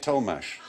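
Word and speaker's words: Tollemache: but each half was pronounced differently so he's pronounced to make toe mash Thomas's and they had the longest name of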